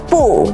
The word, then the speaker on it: 不: the rule here is if bu is followed by another fourth tone, it changes to second tone. Why? To make the sentence flow more naturally and avoid having two strong falling tones in a row. Like 不错 would sound too abrupt and heavy if we use fourth tone for both words, like 不错. Mandarin naturally avoids that, so we say 不错, changing the fourth to second tone.